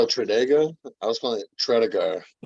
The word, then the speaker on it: Tredegar: So they all fuck it up, and we were saying it right, but apparently it's Tredega.